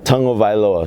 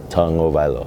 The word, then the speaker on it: Tagovailoa: Tagovailoa. So you say tongue first, O-Vailoa. Tagovailoa.